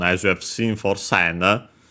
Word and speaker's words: 千: us in Japanese because, as we have seen, it's pronounced sen.